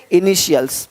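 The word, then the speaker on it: initials: इनिशियल्स।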